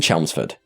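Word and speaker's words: Chelmsford: include it this horrifying entry begins and I'll pronounce it correctly this time in chelsford Essex in June of 2019 in chelsford specifically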